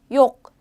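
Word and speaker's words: yok: 표현은 쉽죠 하는 자 욕 욕 이렇게 편 하시면 되요 지역이 마지막에 캐 있는 것도 살짝 k 발음 나요 라는 걸치 내기 위해서 욕 욕 이렇게 해주시면 되겠죠 그래서 없다는 그리고 참고로 요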